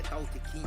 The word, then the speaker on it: Tao Te Ching: O Tao Te Ching, né? Que é Tao Te King, que o pessoal fala, cada um fala uma pronúncia e tal, e ele, você conhece esse livro, jogou na cama assim, tal, lógico.